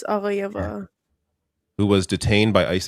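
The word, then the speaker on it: Aghayeva: I'm going to Aga Hayayeva. It's Aga Hayayeva.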